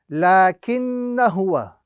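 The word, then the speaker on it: لَٰكِنَّا هُوَ: This is the indication to us that that alif is now considered a silent alif and must not be read. So the correct pronunciation of this particular phrase is lakinna huwa. Lakinna huwa. The alif would not be pronounced at all at any given point in time.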